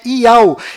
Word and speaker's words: Yahu: nome do Criador é Yahu, e a última letra do seu nome tem som de H mudo, do qual não altera a pronúncia deste nome.